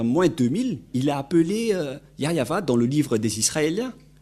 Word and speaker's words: Yahvah: exemple vous êtes pêcheur si vous ne prononcez pas yayava vous êtes directement un pêcheur si vous dites que